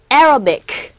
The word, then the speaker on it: Arabic: 자, 제목인즉 Is our numbering system really Arabic? 우리가 보통 아랍이라고 발음하죠. 아랍. 그죠? 그리고 아라비아 아니라 아라비아라고 발음을 하게 되는데 정확한 발음은 Arabic 이라고 발음하셔야 됩니다.